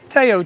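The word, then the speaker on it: Theo: it was named after Teo Tyson uh or in English you'll say Co we don't pronounce the h here see the front of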